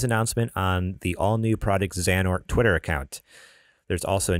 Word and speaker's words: Xehanort: You might need to help me with some of this pronunciation. Go for it. Project Xehanort. Xehanort.